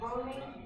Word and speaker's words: Romy: Apologies, I've been saying the name wrong. It's Romy.